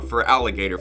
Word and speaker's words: Feraligatr: I was going for feral like a cat for feral, but I landed on Feraligatr for the pronunciation simply because it looks like an alligator.